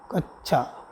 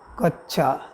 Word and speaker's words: कक्षा: ठीक है, प्रश्न संख्या 94 है कक्षा शब्द का जो शुद्ध उच्चारण होगा, कच्छा, है ना, कच्छा।